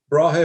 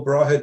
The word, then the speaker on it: Brahe: Tycho Brahe or Tycho Brahe do? Brahe is spelled B-R-A-H-E.